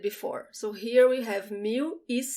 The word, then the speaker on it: mil: video description okay 1000 mu now you have to look at the pronunciation of the l when it's the last letter of the word so listen to me i do not roll that l mew from here